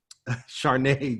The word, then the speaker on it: Charnay: But I always, because her name is spelt a certain way, she has a silent letter, and I always want to use a letter, right? Charnay Jackson is her name.